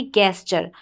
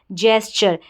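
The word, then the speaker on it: gesture: तो क्या बन गया, ये गैस्चर। ये प्रोनाउंसिएशन बिल्कुल गलत होगा। अब सही उच्चारण देखें, यहाँ पर जी को ज पढ़ा जा रहा है, जी को ज पढ़ा जा रहा है तो GES, ये जैस बन गया।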